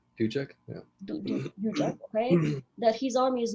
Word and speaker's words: Dujek: She is afraid of the fact that the Dajek, that's how you pronounce it, Dujek? Dujek? Yeah. Dujek, okay, that his army is mostly made of Seven Cities soldiers, and Seven Cities about to rise up.